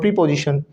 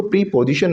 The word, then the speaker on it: preposition: आए, that is called प्री पोजिशन, right. प्री पोजिशन, right? Yes और नो? Yes, sir. यस और नो? Yes, sir. नो, इसको प्री पोजिशन नहीं बोलना, इसको बोला जाता है प्रेपोजिशन.